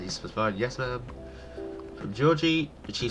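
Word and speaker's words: Jorji: I was pronouncing Georgie's name here as Yuri, because I thought it was silent J's, and yeah. Anyway, yeah, it's Georgie, not Yuri.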